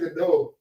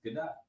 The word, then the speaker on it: Gadot: because there's the whole thing of people saying Godot, and she came out in an interview and she was like, "That's not my name."